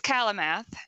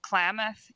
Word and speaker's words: Klamath: Library to ask what do you say it's Calla math is the correct pronunciation the interesting fact about this one is that it's actually named after the Klamath Indians so there's no there shouldn't be an